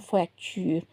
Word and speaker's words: fracture: A fracture, avoir une fracture. The pronunciation is different. Une fracture.